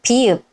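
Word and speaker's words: 비읍: Next is pi-eup. Its name is pi-eup. Pi-eup. Follow the arrows carefully. 1, 2, 3, and 4. Pi-eup. Pi-eup. At the beginning of a syllable, it sounds p.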